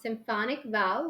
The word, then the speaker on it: Symphonic Val: Symphonic Val, like symphony, right?